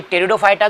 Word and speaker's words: Pteridophyta: शुरू करते हैं कि टेरिडोफाइटा जो है यह नाम सबसे पहले हम इसका नाम इससे क्यों पढ़ा उसके बारे में जानते हैं तो देखिए इसमें पी साइलेंट रहता है ध्यान रखना है तो